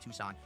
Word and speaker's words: Tucson: Funny now saying, "Let's go to Tuxen because I said Tuxen instead of Tucson." Even though I knew it was Tucson, I didn't click immediately.